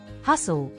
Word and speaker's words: hustle: The letter T is silent in some words, especially when it follows an S or is part of the STLE at the end. Thistle. Castle. Apostle. Hustle.